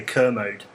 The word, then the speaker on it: Kermode: I just want to point out, you spent the last 2 weeks telling me correctly to say Kermode.